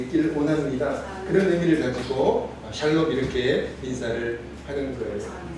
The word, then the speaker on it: 샬롬: 어 발음이 잘못돼 가지고 살놈 이렇게 해도 괜찮습니다. 죽을놈은 아니잖아요. 예. 살놈. 살놈이다. 괜찮아. 발음이 좀 틀려도 괜찮습니다.